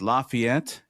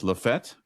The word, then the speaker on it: LaFayette: Um, so it's not pronounced Lafayette. It's Lefett. Correct.